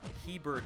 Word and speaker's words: Hebert: Hebert, everyone mispronounces it. You're right, dude. If you just look at it quickly, you assume there's an R right there.